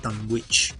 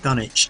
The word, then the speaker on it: Dunwich: the uk called the dunwich dynamo um we now pronounce that done which if you american books done itch dynamo and it's a night